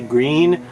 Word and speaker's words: Gree: entire word no no i didn't forget to put the n on the end when i said it was gree so i'm not talking